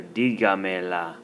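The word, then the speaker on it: dígamela: are getting an accent so that when you add the mela the stress stays on the second to the last syllable of the original conjugated verb diga ponga so we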